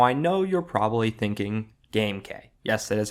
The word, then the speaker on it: GameK: Now I know you're probably thinking GameK. Yes, that is how you pronounce my channel name.